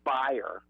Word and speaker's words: Bayer: is their siding with buyer, which we know as Bayer, the aspirin company, uh which buyer is German. That's how you say it really.